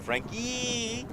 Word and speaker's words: Frankie: uh the intended defender grant frankie pronounced there frank yee is okay getting away